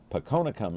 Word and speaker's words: Phakonekham: and uh we appreciate the sponsorship and Diane ponum is here and I pronounced your name right yes you did you